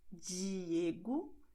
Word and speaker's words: Diego: that you have the E always and the E at the end of the word with the sound J, like when you have in English jeans. Okay, which is why you are going to say Diego, tarde, and even desculpe.